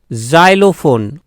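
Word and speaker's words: xylophone: আরেকটি দেখো এক্স ওয়াই এল ও পি এইচ ও এন ই, জাইলোফোন। ভালো করে উচ্চারণটা শুনবে, জাইলোফোন, জাইলোফোন, জাইলোফোন, যা, যা। তা এখানে সম্পূর্ণভাবে কিন্তু বর্গীয় উচ্চারণ হচ্ছে না, ঠিক আছে। জ অর্ধস্বর উচ্চারণ হচ্ছে, বর্গীয়ের অর্ধস্বর উচ্চারণ হচ্ছে, বোঝা গেল।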